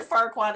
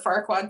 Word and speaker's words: Farquaad: um okay so lord farquaad is who we're roasting tonight he's he's short um his name rhymes with dickwad um he turns down